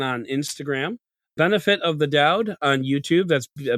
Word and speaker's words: Doud: Benefit of the Dowd on YouTube. That's a benefit of the DOUD, spelled like my last name.